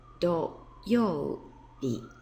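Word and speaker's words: 土曜日: And when you use it as a day of the week, it's pronounced do. We add yo, bi to get do, yo, bi.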